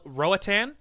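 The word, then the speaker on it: Roatán: crushing this name but it's called Roatan I think it's how you pronounce it it's ro a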